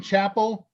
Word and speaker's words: Chappell: 101 by uh laura chappelle l l that was c-h-a-p-p-e-l-l in 2017 which is she pronounces her name yeah she pronounced her name chapel and she and i